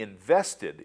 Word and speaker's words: invested: word of this list only invested is pronounced with the ED as an added syllable early intermediate English learners